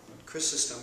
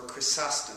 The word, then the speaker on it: Chrysostom: Chrysostom, or Chrysostom, depending on how you pronounce the Greek term, means golden mouth.